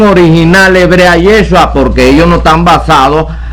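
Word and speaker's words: ישוע: es el Castellano jefú Pero tenía que ser con a para mantener la pronunciación original hebrea yeshua pero no los ingleses trinita los norteamericanos trinitarios a ellos no les importó mantener la pronunciación correcta del idioma hebreo yeshua y escriben es yizas al español y entonces todo el mundo empieza a pronunciar mal este nombre a decir Jesús y eso es una mala pronunciación porque esto no es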